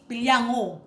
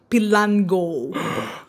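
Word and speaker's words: pillangó: Pilyango. Pilyanga. Pilyango. Pilyage. Mm-mm. Pilyago. Close, but say the N as well. Pilan. Pilango.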